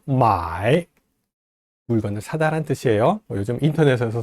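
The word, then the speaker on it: 买: 사다라고 할 때 마이, 물건을 사다란 뜻이에요. 요즘 인터넷에서 사죠. 예, 돈 붙이고 상품 배송받고. 마이, 마부터 이까지 끊기지 않고 한 번에 발음이 됩니다.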